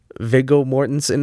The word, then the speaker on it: Viggo Mortensen: Viggo Mortensen, is that how you say his name?